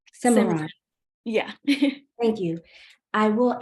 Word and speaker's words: Simran: Yeah, I will say, I will add to that, and to your point, Simeon, did I pronounce that correctly? Simran.